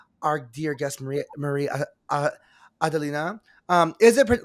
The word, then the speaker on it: Marie-Adélina: So before we get into the fun, our dear guest, Maria Maria Adelina, um is it like so am I pronouncing it correctly? Are we pronouncing it right? Adelina.